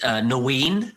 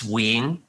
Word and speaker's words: Nguyen: So like in the UK, I said Nguyen, but actually it's Nguyen, right? So it's completely wrong.